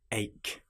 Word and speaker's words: ache: For example, the word ache has a ch in it, but it is pronounced like a c.